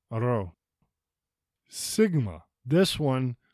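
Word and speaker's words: ρ: Rho. It is often difficult for English speakers to roll R's.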